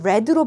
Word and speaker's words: read: 과거 시제 읽었다라고 할 때는 얘를 read로 발음을 합니다. 괜찮아요? 다시 한번 해볼까? Tired though he was each night. 매일 밤 그가 비록 지쳤다 할지라도 Tim read a story to his child.